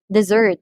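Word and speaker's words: desert: So let's take the dessert as an example, yung verb. So dessert, dessert, dessert. So the second syllable receives the stress because we are pertaining to the verb.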